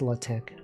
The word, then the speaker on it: LaTeX: same thing L tank isn't it weird that it's pronounced latch and yet it's spell like latex why did they do